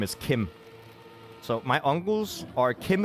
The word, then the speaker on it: Kim: It's pronounced Kim.